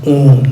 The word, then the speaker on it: Om: In the Buddhist context, Om, this syllable Om is constituted of three letters, A, U, Ma. And these three letters combined together is pronounced as Om, not as There's Om.